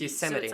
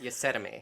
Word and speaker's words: Yosemite: or the t them it's spelt y-o-s-e-m yeah so it's yosemite not your sediment you send might yes i might i like vegemite yosemite yeah like vegemite okay so yosemite virginity